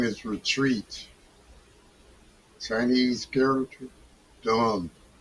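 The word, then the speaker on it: 遯: Chinese character don pronounced don like don don same as don.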